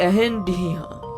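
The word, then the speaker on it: Reine de Rien: ये एक फ्रेंच name है जिसको फ्रेंच में प्रोनाउंस किया जाता है एहन डिहा, और इस नाम का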